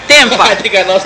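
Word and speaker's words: Tampa: Тампа. Или как произносят ее, Темпа.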